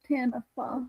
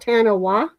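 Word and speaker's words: Taniwha: hear their name in here that has uh Tanifa. Tanifa. It So, that's Oh, it's Tanifa. Not Tanawa.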